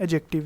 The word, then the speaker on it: adjective: अच्छा, the third one इज़ द एडजेक्टिव, कुछ एडजेक्टिव भी कहते हैं पर डी साइलेंट है, एडजेक्टिव है।